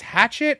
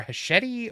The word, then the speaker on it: Hachette: So I've taught the whole crew because originally we were saying hatchet, and then we found out it was hachette. So I said if you do the hand movement, it helps you Hachette.